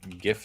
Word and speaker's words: GIF: It is not GIF. What's the G? It's the G stands for graphic, doesn't it? GIF, abbreviation, graphics interchange format. It's not graphics, it's GIF.